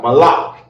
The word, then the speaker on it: Malak: thing according to God Malak in the Hebrew is how you say King okay and Kings have